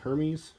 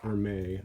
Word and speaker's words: Hermès: I guess I always I thought it was a Burmese like Hermes whatever like that Greek whatever but it's pronounced or may I guess that's a